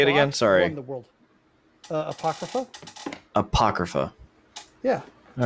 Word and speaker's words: apocrypha: how do you say it again sorry uh Apocrypha apocrypha yeah all right cool apocrypha um it's